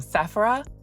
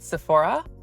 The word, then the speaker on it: Sephora: So yeah, if I say Sephora, people are like, what? So I always say Sephora, but I know it's Sephora. I don't know, do people from other countries also pronounce it differently? Like the Spanish, how do you say Sephora? Do you say Sephora or Sephora?